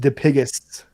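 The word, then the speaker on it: Dipygus: p y g u s but it is pronounced diigis which is actually like a deformity that you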